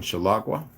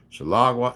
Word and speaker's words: Chihuahua: There's Court of Honors in Chihuahua. There's a number of, it's actually pronounced about 3 or 4 different ways. Chihuahua, Chicago, Chihuahua. It's about 5 different ways. I just say Chihuahua, okay?